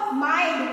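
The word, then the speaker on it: mind: Rule 7 यदि आई के बाद एनडी एलडी आए तो आई के बाद एनडी और एलडी आए तो आई का उच्चारण आई बोलते हैं।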